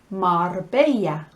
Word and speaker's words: Marbella: or think of um espana que se llama marbella i want to go to marbella that's my